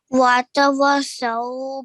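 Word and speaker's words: وَتَوَاصَوْا: وتواصوا بالصبر. Okay, now over here, I want you to stretch for 2 counts for the alif after the waw because it's an alif mud.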